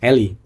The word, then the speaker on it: a11y: Pengucapannya cuma Eli aja sebenarnya, Eli.